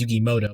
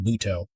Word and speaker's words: Muto: There's Yugi, and I mean little Yugi Moto, which is actually the wrong way to say his name. Everyone says Yugi Moto, but his name's pronounced Muto.